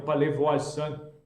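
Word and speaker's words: Pellevoisin: 1876 em palevo né o palevo aan né que é que é a pronúncia Francesa e correta que é uma aparição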